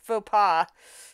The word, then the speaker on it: faux pas: It took me forever to realize that's what people the word written was what was pronounced faux pas for the longest time.